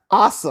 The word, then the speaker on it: Asim: But it's actually your name is actually awesome. Awesome. Awesome. Yeah. Yeah. Is how it's actually pronounced.